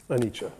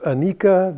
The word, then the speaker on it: anicca: Anicca. Never to be pronounced anika, that is anicca.